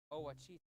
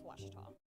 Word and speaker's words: Ouachita: ouachita sports digital network i've heard people say oh a cheetah back in texas everybody pronounces it wichita but really it's washita washertop how would you pronounce it get it